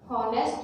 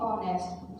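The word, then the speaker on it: honest: इसकी आवाज़ आती है, इसकी आवाज़ हॉनेस्ट नहीं बोलते, हम इसे बोलते हैं ऑनेस्ट। जो इसमें एच होता है ये साइलेंट होता है, इसको बोला नहीं जाता, और इसके जब बोलते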